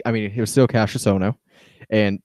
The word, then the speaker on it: Cassius Ohno: I mean, it was still Cassius Ohno, and they kept on pronouncing his name Cassius Ono.